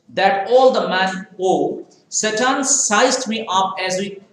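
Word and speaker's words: Tsetan: His name is Satan. Okay, you see, T-S-E-T-A-N. Okay, so T is silent here.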